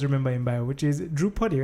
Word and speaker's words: Drewpuddy: which I always remember him by which is droupati right yes I pronounced it right but you are an gibran